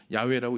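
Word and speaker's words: יהוה: 되어 있죠 하나님의 이름 히브리어 성경을 보면 발음이 야외입니다 이스라엘 사람들은 야호의 이름을 거룩한 문자 테트 그라마톤이라 그래서 함부로 부르지 않습니다이 문자는 너무도 거룩해 야외라고 읽지 않습니다 이렇게 읽습니다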